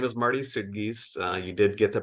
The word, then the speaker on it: Marty Suidgeest: yeah so I uh so my name is Marty suggest uh you did get the pronunciation correct thank you for that and um